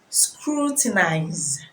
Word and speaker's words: scrutinize: speaking against a person the U is scrutinize is pronounced as well you in scarlers is pronounced as a sound the essence of this